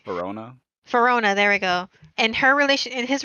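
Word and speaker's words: Perona: And like I loved how Zoro was with Hawkeye, and was it Fenora? I can never pronounce her name right. Verona.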